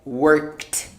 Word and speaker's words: worked: unvoiced in this case the ed becomes a t it sounds like t so you say something like worked like this i'm going